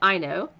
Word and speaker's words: Aino: have on the show is I know it's pronounced I know I know Welch and Keith Anthony Taylor so